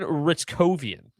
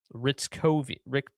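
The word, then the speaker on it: Hryckowian: It is Justin Ritzkovian. Ritzkovian. It's a tough one. Ritzkovian, Johnson, Ranton, Robertson, Hintz, Bork. I can pronounce those ones, no problem.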